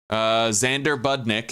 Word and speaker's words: Xander Budnick: Xander Budnick is spelled with, there's an X at the beginning of it, like Alexander. So Xander with an X at the beginning, and Budnick, like buds of marijuana, bud.